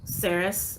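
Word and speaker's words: Ceres: asteroid chiron palace athena juno saris that's how you say that sarah's i apologize if i don't pronounce things properly saris all of these are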